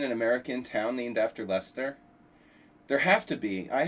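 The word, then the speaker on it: Leicester: I mean, in Lyster. No, no, no. It was in No, he lives in Lester.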